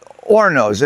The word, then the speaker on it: horno: I mean, they're called hornos and in Spanish you don't pronounce the H, but uh Chester didn't care.